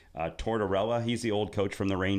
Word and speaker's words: Tortorella: Tortorella.